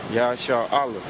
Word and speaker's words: Yasharahla: name to the hebrew it's not israel the name is yahshua allah yah shah allah y a s h a r he is